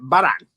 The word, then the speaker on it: Varan: They pronounce it Varan.